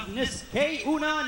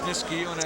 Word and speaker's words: Niskayuna: Fighting out of Niskayuna, New York, he is Nick Sanzo. Well, I hate to see my hometown name get butchered, but it is Niskayuna, and it's not New York City, Bruce.